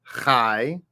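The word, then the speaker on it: חי: Whenever the letter yod is at the end of a word, and it follows a ah sound, the line or the T, it makes an I sound, okay? Like Adonai or tie or pie. So in this case, in line 2, we have chai, okay?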